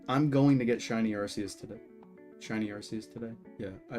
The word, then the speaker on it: Arceus: I call it shiny Arceus rhymes with Grog.